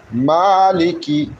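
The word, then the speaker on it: مَٰلِكِ: দয়ালুদাতা মেহেরবান আলহামদুলিল্লাহি রব্বিল আলামিন আর রাহমানির রাহিম মালিকি মালিকি মিম খাজরমা মিম খারা জবর মা মিম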